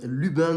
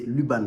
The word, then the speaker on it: Luban: Yan bourguignon qui propose l'ubin de la maison Wian attendez ce que je dis je prononce bien c'est Luban pardon de la maison wiian c'est